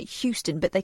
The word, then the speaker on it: Houston: This is Houston Press.